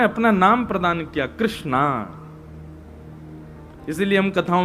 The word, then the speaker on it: कृष्णा: करते हैं कि भगवान भगवान का नाम उच्चारण करना है तो कृष्ण बोलो कृष्ण और यदि द्रोपदी का उच्चारण करना है तो कृष्णा बोलो अकार आ की मात्रा लगाओ संपूर्ण महाभारत के पात्रों